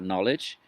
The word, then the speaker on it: knowledge: Okay, so philosophy is about knowledge. Okay, so one word. So think of the word knowledge. It's got a K. Why is there a K there? We don't pronounce it.